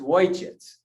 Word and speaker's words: Ojciec: Ojciec, it's wojciec. I may not have spelled it right, but that's how you say it, okay?